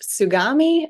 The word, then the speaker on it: Tsugami: at and your role there yes it is pronounced sugami America and we are a Swiss CNC lathe style uh Machining equipment provider and we are part of the Morris group as well as Precision sugami so we have Japanese roots and also American